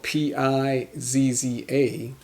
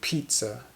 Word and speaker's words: pizza: is no T but in English we pronounce the word as if it has a T so we say pizza pizza pizza pizza pizza